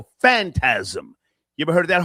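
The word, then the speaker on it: Phantasm: Yeah, but it's pronounced fantasm.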